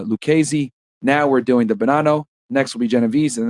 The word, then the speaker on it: Bonanno: The Bonanno crime family, pronounced Bonanno, is an Italian-American mafia crime family and one